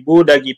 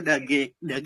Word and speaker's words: Duggee: Untuk Dagi ya sebutannya ya? Dagi.